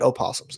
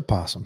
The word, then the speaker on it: opossum: They do get opossums, though. Not called an opossum, just a possum. Opossum. O is silent.